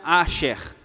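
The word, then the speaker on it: אשר: Essa palavra bem-aventurado, no original, no hebraico, ela é uma palavrinha assim que se pronuncia Asher, tá? Vem do hebraico Asher, que é se escreve assim, A-S-H-E-R, Asher, que é justamente o nome de um dos filhos de Jacó, que é Aser.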